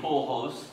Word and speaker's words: Pujols: Now, before Pablo, only Babe Ruth, Reggie Jackson, and Albert, and I'm sure I'll mispronounce the name, Pujols. Say it again, Nick. Pujols.